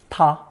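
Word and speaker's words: 它: plus the year element also pronounced ta just like he him and she her for a quick history review remember that China's last Dynasty disintegrated in 1911.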